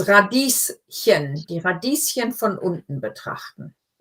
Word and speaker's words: Radieschen: Radieschen. So this is one of those words where, when we're talking about something little, we often add the ending chen. And radies just happens to end with an S, so